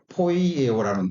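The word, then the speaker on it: ποιέω: 자, 포이에오라는 뜻인데, 발음이 되는데, 이게 뭐냐면, 창조하다라는 의미를 가지고 있어요.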